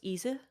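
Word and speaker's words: Ize: I like to think it's pronounced Isa.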